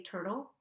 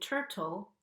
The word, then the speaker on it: turtle: And again, note the difference in pronunciation when I say turtle with the flapped T and turtle where I don't flap the T, and how an American English pronunciation is more likely to have turtle with a flapped T.